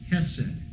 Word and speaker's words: hesed: And so the most repeated descriptive term for the covenant is a Hebrew word that we transliterate and pronounce hesed.